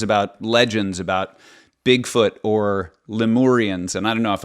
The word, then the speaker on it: Lemurians: When did you first start hearing sort of stories about legends about Bigfoot or Lemurians? And I don't know if I'm pronouncing that right. Lemurians. Lemurians, thank you.